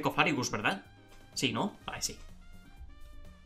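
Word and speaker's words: Cofagrigus: No se dice Cofragibus, no se dice Cofagribus. Se dice Cofarrigus, ¿verdad?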